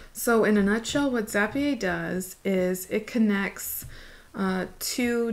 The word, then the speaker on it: Zapier: an account at Zapier, or what I like to call Zapier because my last name is, I'm Cajun French, so I-E-R, it's gotta be pronounced yay, all right?